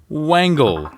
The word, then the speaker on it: wangle: spelling wengel for us wangle it is not a mispronunciation by dave hinckle of wrangle it is wangel w-a-n-g-l-e angle and what